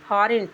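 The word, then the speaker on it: foreign: उसी तरह से एस आई जी N sign sign means हस्ताक्षर उसी तरह से है एफ ओ आर ई आई जी एन फॉरेन फॉरेन means विदेशी सब में जी साइलेंट है इसी तरह से जी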